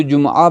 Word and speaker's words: جمعہ: میں، جمعہ مثلا جمعہ، اصل میں جو ہم پڑھتے ہیں جمعہ صحیح نہیں ہے، تلفظ سے جمعہ، کیونکہ عین آتا ہے، جیم میم عین، تو جمعہ پڑھنا چاہیے۔ اسی طرح سے ہم